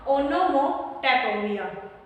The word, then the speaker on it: onomatopoeia: ONO से बनेगा ओनो, MO से मो, TAP और पोया। तो क्या नाम बनेगा इसका, ओनोमोटोपिया, ओनोमोटोपिया।